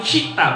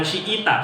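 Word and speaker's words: شئت: Fa in syi'ta, itu yang punya kitab dibenerin, bacanya itu keliru. Fa in syi'ta, bukan syi'ita, syi'ta.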